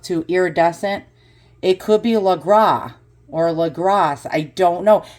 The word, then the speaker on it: Legras: I believe it's pronounced Legras. I think the S is silent, or Legras.